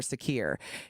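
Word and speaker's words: Sakir: the GoFundMe link for Secure. His first name is Secure. That's spelled S as in Sam, A as in Apple, K as in Kite, I as in Indigo, R as in Richard.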